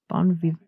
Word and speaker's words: bon vivant: Of yourself, you've said, I'm just a weirdo, a freak, a bon vivant. How do you say that word? Bon vivant.